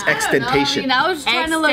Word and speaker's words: XXXTentacion: Everyone pronounces it Tentacion though. It's Xxxtentation.